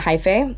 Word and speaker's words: Hyphae: There's an organization called Oakland Hi-Fi. Yeah. I'm gonna do a Spell that.